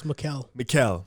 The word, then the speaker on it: Mikal: In the comments, they said I said his name wrong, his first name wrong. Well, It's Mikal.